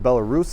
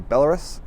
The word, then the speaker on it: Belarus: right like uh the country I thought was pronounced Belarus is actually Belarus um he was the person to teach me